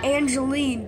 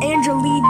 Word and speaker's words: Angelina: Slender and Angeline combined some people pronounce Angeline as Angelina and we know that's fat granny or or slendrina's mom's actual name it's not Angeline it's Angelina there's there's an a after it slend slend is Slender